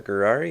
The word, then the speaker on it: Gurari: Gurari. You pronounce that like Ferrari, but with a G, so Ferrari, Gurari, Ferrari, Gurari.